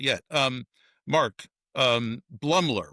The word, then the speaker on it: Blumler: Um Mark um Blumler, right? Am I saying it right? Yeah, Mark Blumler.